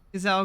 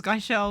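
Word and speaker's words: Gysahl: I didn't actually know the pronunciation of them Gazelle greens. I thought it was Gaishel or something. Now I know.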